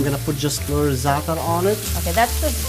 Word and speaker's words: za'atar: So now I'm gonna put just a little za'atar on it. Okay, that's the. How do you spell that?